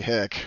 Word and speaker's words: hic: But the best approximation I know of is "Ich swint draconis," Which we totally don't use either. I don't even use it. Wikipedia says it's actually hic with HIC fully pronounced, but I don't know